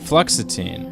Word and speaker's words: fluoxetine: How do you pronounce that? Fluoxetine? Fluoxetine, and that's generic Prozac.